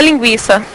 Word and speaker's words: linguiça: o trema de 50 linguiça linguiça que ele apresentou se ele retira o o trema de linguiça ele tem que pronunciar o u mais forte do que o i como é que fica